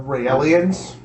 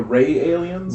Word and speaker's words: Raelian: So the next one I have on here is the Raelians. I'm sorry, the what? The Raelians. The Ray aliens? Raelian or Raelian, however you want to pronounce it. But it's Ray alien.